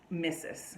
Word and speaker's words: Mrs: to santa claus so when you see the mrs abbreviation it's missus right so we pronounce